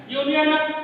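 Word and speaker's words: union: यूनियन हालांकि ये जो वर्ड है यह शुरू तो हो रहा हमारा वावल साउंड से, लेकिन यदि हम इसका प्रोनाउंसिएशन करेंगे तो यह यू से स्टार्ट हुआ है, यानी कि वावल से स्टार्ट हुआ है, लेकिन यदि हम इसका प्रोनाउंसिएशन कर रहे हैं तो प्रोनाउंसिएशन हमारा स्टार्ट होगा कॉन्सोनेंट से, ठीक है।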